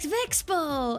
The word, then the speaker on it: VeXpo: because I went to V Expo, or as I learned at the convention, most people say VeXpo. I'm now ashamed that I've been mispronouncing it.